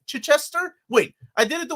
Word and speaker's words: Chichester: that's what I said Chai Chester said say it like hit hit Chester hit Chester with no Gap in the middle hit Chester CH Chester Chester ch Chester or still chai chai so like the T chai instead of emphasizing um the first syllable Chichester you're putting the emphasis on the wrong syllable I'm from Peru I